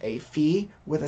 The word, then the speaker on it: phi: look at are called fee and Kramer's V now fee it's pronounced fee but if you want to call it Phi that's okay by me we only use it